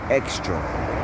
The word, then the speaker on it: Xtra: Like, this is a Red Lobster right here, but over here was a place called Extra. It's spelled Xtra.